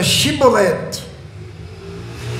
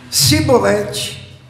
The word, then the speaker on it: chibolete: respondesse que não diziam Então diga chibolete se eles dissessem sibolete sem conseguir pronunciar corretamente a palavra prendiam e matavam